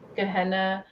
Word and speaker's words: Gehenna: Gehenna, Naked Aggression.